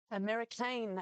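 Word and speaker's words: Americain: American, as we've been told it is correctly pronounced, a son of Dinah Former, a French galloper.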